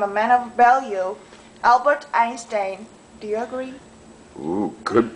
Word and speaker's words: Einstein: look at this here it goes in even though it's EI do you know why it he's German or something yeah he was Einstein Einstein right and so the